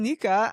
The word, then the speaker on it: Nika: So, um, Aaron pronounced my name, uh, correct. So, I'm Nika.